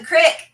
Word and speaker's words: creek: the uh okay so civilized normal people would pronounce this creek how would a son or daughter of appalachia appalachia pronounce this even i know that one jess you can take it down at the crick there we go there